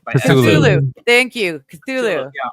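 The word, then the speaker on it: Cthulhu: How do you pronounce it? Chatulu custom pipe by Chatulu.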